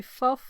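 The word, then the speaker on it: ffuf: Just say fuff. That's like the F in the other direction.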